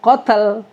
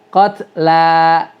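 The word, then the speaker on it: القتلى: dua dua harakat qla Bukan qotl Ya bukan Sekali lagi bukan qotl tapi qatla gitu ya Nah itu yang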